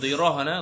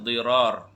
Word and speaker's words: Dirar: Bukan Dirah, Dirar.